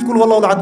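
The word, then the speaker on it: قل هو الله أحد: কি কুল হুয়াল্লাহু আহাদ মানে কি? এটা উচ্চারণই বা কেমন করে করতে হয়?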